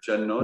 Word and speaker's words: Gianotti: And I forget how to pronounce her last name, even though I speak Italian. Gianotti?